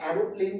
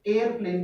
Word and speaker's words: aeroplane: जैसे कि आपने देखा होगा कि एरोप्लेन की स्पेलिंग जो है ये लिखी जाती है, लेकिन वास्तव में ये स्पेलिंग ऑक्सफोर्ड डिक्शनरी के अनुसार या ब्रिटेन लैंग्वेज को इंग्लिश के अनुसार, अगर आप बात करें ब्रिटिश इंग्लिश के अनुसार, तो इसको एरोप्लेन नहीं बल्कि एयरप्लेन बोला जाता है।